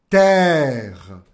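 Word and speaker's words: terre: muito importante isso por exemplo a terra La Terra Terra se escreve t e r r e pera aí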